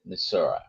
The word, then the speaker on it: Missouri: Uh, for Pix Fly Farm from Missouri or Missouri, depending how you pronounce it, they're both the many of the locals call it Misura.